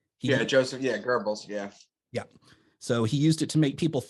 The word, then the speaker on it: Goebbels: propaganda minister and i looked up how to pronounce his name uh joseph goebbels yeah joseph yeah gerbils yeah yeah so he used it to make